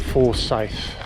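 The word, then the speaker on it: Forsayth: little stops place called four safe i'm sure i pronounced that right f-o-r-s-a-y-t-h it's in the goldfields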